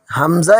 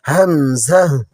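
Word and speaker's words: همزة: বা বুকের দিক থেকেই, তবে মনে রাখবেন এটি উচ্চারণের সময় আওয়াজটা একটু স্পষ্ট এবং কিছুটা ঝটকা বা ধাক্কা লাগার মতো শোনায়। এটি সাধারণত আলিফের মতো একদম সোজা টেনে ছেড়ে দেওয়া নয়।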